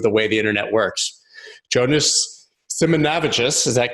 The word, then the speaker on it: Jonas Simanavicius: So what is the exact pronunciation? Because I tried, I've listened. Yeah, it's Jonas Simanavicius.